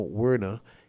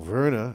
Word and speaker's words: Werner: shade being thrown at mr tino werner or verna as would be pronounced because he is german he has actually brought